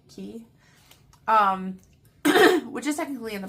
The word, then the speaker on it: Cay: And then we stopped at Castaway Cay, or Castaway Cay, like it's spelled C-A-Y, but I think they say it's Key, which is technically in the Bahamas, right?